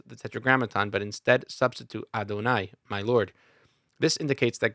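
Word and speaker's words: יהוה: that is written as the tetragrammaton and pronounced adonai we become aware that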